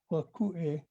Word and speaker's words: vatuʻe: They actually say Vakue. But anyway, they write it with a T.